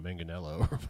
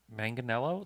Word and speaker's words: Manganiello: Hyundai isn't it like isn't it actually manganello I think it's manganel yeah I think it's